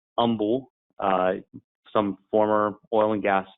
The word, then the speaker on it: Humble: It's pronounced Humble.